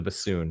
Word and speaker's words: bassoon: The bassoon, which rhymes with buffoon.